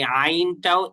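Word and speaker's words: عين: দেখেন এই আইনটা উচ্চারণ করতে হয় হলো গলার মাঝখান থেকে, ওই যে হা, যে যে মানে যেখান থেকে উচ্চারণ করছিলেন এই আইনটাও একই জায়গা থেকে উচ্চারণ হয়, বুঝতে পারছেন? তাহলে হা এবং আইন এটার মানে উচ্চারণের স্থান একই, তাহলে এটার উচ্চারণ করতে হবে আইন, এভাবে আইন। সবাই একটু একটু করে, যেহেতু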